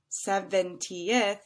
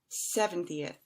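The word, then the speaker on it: seventieth: And then lastly, as an example, I have 17th, which has 3 syllables, and 70th has 4. So that teenth part, again, is going to sound a little bit longer than the second one.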